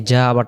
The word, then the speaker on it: جَاءَ: বোঝার জন্য এই যে মোটা চিহ্ন আছে তাহলে উচ্চারণটা করব এটা ই তাড়াতাড়ি যা এক আলিফ এই জা আবার টান দিব জা আ এখন এই দুই শব্দে